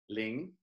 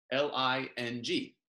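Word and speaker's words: ลิง: And the Thai word for monkey, this is another fun one to say, is ling, L-I-N-G, ling.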